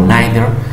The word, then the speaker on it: neither: Cuando son negativos, entonces vamos a utilizar esta otra palabra que es neither o neither. Tiene dos pronunciaciones, la que quieras.